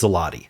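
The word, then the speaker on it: złoty: Now, the American pronunciation of this is zloty, so I was correct because I'm American. But the Polish pronunciation, the way they pronounce their own currency, this is the Polish currency, is złote or złota, something like that.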